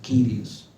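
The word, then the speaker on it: κύριος: dueño, que el Señor, en griego kurios, el Señor es ¿quién? Dios. Algunos pronuncian Kyrios.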